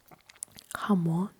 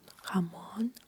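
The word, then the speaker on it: jamón: So we just pronounce it as Uh for example Jamon. Jamon.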